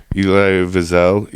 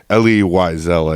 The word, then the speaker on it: Elie Wiesel: Elie Wiesel, or Wiesel. Elie Wiesel, I think, is how it's pronounced.